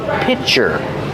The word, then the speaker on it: pitcher: Remember, pronunciation, pitcher, pitcher. Use the short I sound like this is, plus the ch sound for chicken.